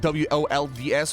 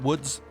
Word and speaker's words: Wolds: W-O-L-D-S would be pronounced Wolds, not Woods.